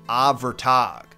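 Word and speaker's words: Abhartach: Prime example, our very first figure, whose name is spelled Abhartac, but if the pronunciation guides I listen to are to be trusted, is said like Avertag.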